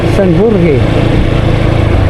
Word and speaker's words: San Jorge: San Jorge kisaya yung mga Espanyol San Jore. Jore.